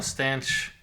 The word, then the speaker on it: staunch: You can also spell stanch Staunch, and it's still supposed to be pronounced stanch, apparently.